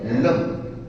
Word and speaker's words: लम: लम। और उच्चारण कैसे करना वो मैं आपको एक बार बता देता हूं। लम लम लम। चोट होगी, अब ऐसे नहीं लम लम लम लम नहीं, हमको चोट करनी है।